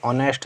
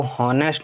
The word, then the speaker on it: honest: तो जैसे अगर लिखा हो HONEST, तो इसको हॉनेस्ट नहीं पढ़ते हैं, ऑनेस्ट पढ़ते हैं।